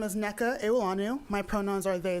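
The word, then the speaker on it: Nneka: Nakina. I pronounce that. Is it NECA? N-N-E-K-A? Yes. Yes. I'm sorry about that. Good afternoon. My name is Neka Ewolanu.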